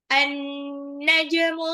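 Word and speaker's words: النجم: Berikutnya An-najmu tsaqib. An-najmu tsaqib. An-najmu bintang-bintang. As-tsaqib. As-tsaqib yang bersinar terang. An-najmu alif lam samsiyah, alif lamnya tidak dibaca, nunnya tasjid jadi an-najmu, dibacanya agak gitu.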